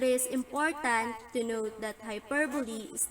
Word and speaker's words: hyperbole: Hyperbole, pronounced hyperbole, is a figure of speech in which an author or speaker purposely and obviously exaggerated to an extreme.